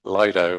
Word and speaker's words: Lido: Um, for that meeting we're going to have guest speakers from the railway group and also from the Lido or Leido depending how you pronounce it.